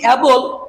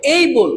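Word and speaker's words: able: যদি এটাকে আমরা যদি বলি এবল, তাহলে হয়ে যাবেন আবল তাবল। এটা কখনো আমরা এবল বলবো না। কি বলবো? এই বল।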